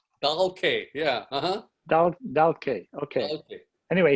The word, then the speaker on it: Dahlke: How do you spell it? So it's Dahlke. Dahlke, yeah, Dahlke, okay.